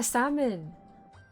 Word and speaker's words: salmon: Oh yeah, salmon. There's no L.